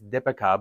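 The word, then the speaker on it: Deepika: Oh, and I should say that I was whenever I say her name, it's Dipika, but it's pron it's spelled like Deepipika, but it's just that's not how it's pronounced.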